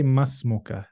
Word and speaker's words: ما اسمك: Or say masmuka. So you join it. That's more correct.